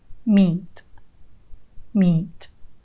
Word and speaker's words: meat: words are truly identical meat meat notice the long vowel sound in these two words e meat meat in